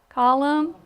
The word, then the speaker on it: column: Column. You don't hear that N, but you have to remember to put it on there.